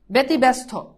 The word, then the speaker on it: ব্যতিব্যস্ত: দেখো জফলা আছে, রসিকার আছে, এই জন্য কি হবে বে, তারপর কি হবে তি, তারপর কি বয় জফলা ব্যতি ব্যাস, তারপর কি ব্যাস তৈকাত্ত, ঠিক আছে তো, ব্যতিব্যস্ত ব্যতিব্যস্ত ব্যতিব্যস্ত ব্যতিব্যস্ত ব্যতিব্যস্ত, শেষ।